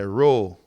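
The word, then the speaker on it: rho: Try pronouncing R-H-O. We say ro.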